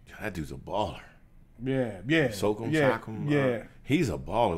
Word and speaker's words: Siakam: Like, Siakam is that how you say his name? That dude's a baller. Yeah. Siakam.